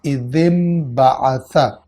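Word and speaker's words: إذ انبعث: اپنی اصل شکل میں، لیکن جب اس کو انبعث سے ملا کر پڑھا جائے گا تو انبعث کے الف کو لکھا جائے گا لیکن تلفظ نہیں کیا جائے گا، اور ذال کے نیچے ایک زیر کسرہ پڑھی جائے گی اور ان دونوں الفاظ کو ملا کر پڑھا جائے گا اذ انبعث۔ انبعث کے بنیادی حروف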